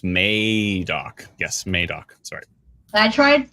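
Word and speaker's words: Madoc: May dock yeah sorry we've been pronouncing madok wrong the entire time so our apologies I think we said Maddock 100 times so uh again this calm is making very clearly sure that we know it's May doc yes madok sorry I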